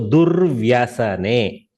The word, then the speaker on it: durvyasane: See, du has to be pronounced first, no doubt. Du. Then the repa has to be taken up. Dur, right? Durvaisane. Vya. Forget the repa now. You have already pronounced this. Dur. You have cancelled that symbol part. So vya. So durvyasane. Durvyasane.